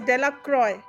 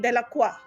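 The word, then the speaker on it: Delacroix: Now the villages pronounced this name as delacroy but actually I'll be saying is dicki de laqua eventually made a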